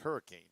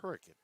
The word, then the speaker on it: Hurricane: Now, for those of y'all that don't know how to pronounce it because you look at it spell spelled like Hurricane, but it's Hurricane.